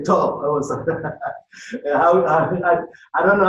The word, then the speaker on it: Kok-Tho: Brother Kok-Tho. I'll just say Kok-Tho. I don't know how you pronounce how do you pronounce? Oh, it's good. Kok-Tho.